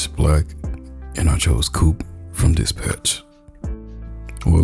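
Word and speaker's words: Coupé: black, and I chose Coupe from Dispatch. Well, let me actually say it right, it's Coupe, but most everybody just calls it Coupe because they just can't get her name right.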